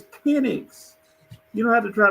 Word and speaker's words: Penix: You don't have to say peen. It's Penix.